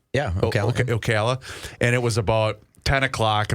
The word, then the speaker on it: Ocala: And I got to is it pronounced Ocala? O yeah, Ocala.